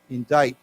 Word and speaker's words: indict: a funny word because we don't pronounce the C we don't say indict okay don't say indict it's indict okay indict so why don't we